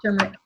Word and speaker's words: turmeric: Yep, it's turmeric. With an R?